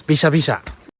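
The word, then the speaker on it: びしゃびしゃ: we say squelch squelch apparently in Japanese it's bisha bisha ladies and gentlemen it's bisha bisha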